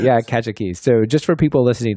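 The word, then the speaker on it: Kajiki: Kajaki. Yeah, Kajaki.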